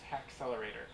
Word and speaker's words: Haxlr8r: of the program is ha accelerator it's spelled weird it's h ax lr8 r and the goal is